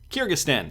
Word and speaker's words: Kyrgyzstan: wanted to check here how do you pronounce this properly just so i'm not uh butchering it every single time kyrgyzstan kyrgyzstan that's how we'll pronounce it so this is interesting